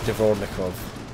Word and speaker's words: Dvornikov: This division is currently commanded by Lieutenant General Sergei Surovikin, and the other division is commanded by Lieutenant General Alexander Dvornikov. That's how you pronounce it.